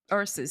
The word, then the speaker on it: Ursus: Is that how you pronounce it? Ursus School of Ursus, Shaman? yeah, Ursus, yeah, right?